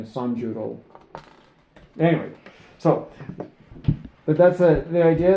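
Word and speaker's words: 三十: If you want to say like 30 you would there's not a word for 30. It's 310. So it be it' be sanju. Mhm.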